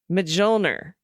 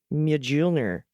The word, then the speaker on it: Mjolnir: So this is the pronunciation of Mjolnir.